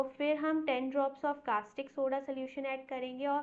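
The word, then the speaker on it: caustic: अभी देखो सारे बच्चे कास्टिक सोडा की स्पेलिंग गलत लिख के आते हैं, क्योंकि प्रोनाउंसिएशन में है ना यू आ ही नहीं रहा है एक तरीके से, तो भाई देख लेना CAU होता है ना, कास्टिक सोडा में यू भी आता है, ठीक है।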